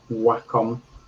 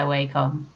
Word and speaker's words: Wacom: I'm on my Wacom. Apparently, that's how it's pronounced. I still stand by Wacom, not Wacom.